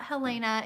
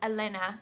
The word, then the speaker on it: Helena: It's not Helena, it's Elena. She's like, the H is basically silent.